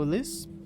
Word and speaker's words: Ulysse: Garrett says the name English style, pronouncing the final S. I correct him. Ulysse.